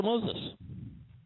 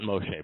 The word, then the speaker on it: Moshe: The Lord spoke to Moses. Not Moshe, by the way. They ought to know how to pronounce the man's name. Moses is a Greek name.